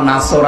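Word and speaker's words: نصر: গেছে যে কিছুক্ষণ আগে পড়লাম না এখানে নুন নাসর আছে নাসর মানে সাহায্য নুন সিন রস যদি উচ্চারণ করে মুখটা গোল না করে স্বাভাবিকভাবে সিন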